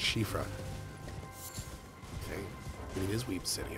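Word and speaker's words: Soifra: specific weapon in mind apparently s o i f r a is an old Irish word pronounced shifra yep I used to think it was cofra right just how it's pronounced but then I believe someone from Ireland in chat was like actually it's pronounced this way and I was like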